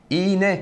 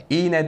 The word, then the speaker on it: iğne: sorun söz konusu değil iğne kelimesinde yine ğ sonrasında bir sessiz harf var iğne derken yine bir yerleşme söz konusu arkadaşlar Teymen mesela demiyoruz Teymen şekilde Eğer sonrasında